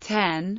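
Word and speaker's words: 点: As the Japanese word for dot is pronounced ten, the dots are colloquially called 10-10-10.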